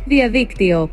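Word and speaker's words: διαδίκτυο: In Greek, you would say, Diaviktio.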